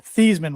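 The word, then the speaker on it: Theismann: Thesisman was his name until he changed it at Notre Dame. Legally changed it to Thyman. So it would rhyme with Heisman.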